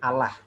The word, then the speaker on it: Allah: Kalau Allah itu lamnya lam tipis, lam tarqiq, dan itu tidak dibenarkan. Jadi yang ngomong Allah. Kalau secara penulisan ya boleh. Tulisan jangan Allah, itu mengikuti kaidah transliterasi, itu beda lagi. Tapi secara pengucapan kita tidak boleh mengucapin Allah. Tuhan Allah, nah itu takutnya menyerupai kaum sebelah. Ya, begitu ya. Kita tidak boleh menyerupai kaum sebelah. Sehingga kita harus dengan tafhim untuk lafaznya Allah saja.